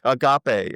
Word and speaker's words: agape: who was it Justin Agape a had like like a bunch of different kinds of so AG g a p e a g but you pronounce it agape and then Diana Donna